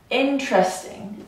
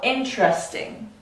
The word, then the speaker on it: interesting: Or in this case, interesting, right? Four syllables. We actually will take out the second syllable, interesting, the second vowel, interesting. Or here, evening.